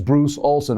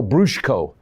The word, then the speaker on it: Bruce Olson: story of bruce which is how the multi-lonely tribals pronounce bruce uh olsen he kept saying no my name is bruce olson oh brushko oh it sounded kind of russian to me but it's tribal brusco he put in everything